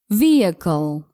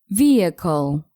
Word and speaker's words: vehicle: are mispronouncing it I'm talking about the word vehicle a vehicle is used to transport people or Goods especially on land such as a car or a truck you should pronounce it like this vehicle vehicle let's see an example Jimmy insisted on leaving